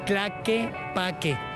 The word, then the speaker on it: Tlaquepaque: How do you pronounce the name of this city again? Tlaquepaque.